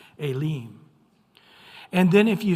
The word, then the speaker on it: Elim: Elam it'll actually say elim so the E has an a sound and the I has an e sound a leem and then if you